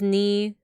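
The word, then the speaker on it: 二: So then 2 is always pronounced as ni, 3 is always pronounced as san.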